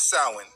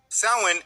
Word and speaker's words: Samhain: Now, the word doesn't look how it's pronounced. Samhain is a night celebrating death and hell.